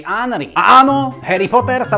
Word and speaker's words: Henry: Toto samozrejme platí aj v menách. Preto tento basketbalista z Francúzska nie je Tieri Henry, ale Tieri Hry.